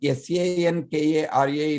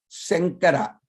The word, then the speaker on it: Shankara: it is spelled as s-a-n-k-a-r-a in english or s-h-a in k-a-r-a it is to be pronounced as sankara like from the tip of the tongue front of the mouth he is sankara like